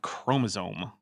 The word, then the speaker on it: chromosome: As a side note, her repeated mispronunciation of the word chromosome is starting to drive me a little crazy. How does she have a PhD in genetics and not know that there's no N in chromosome?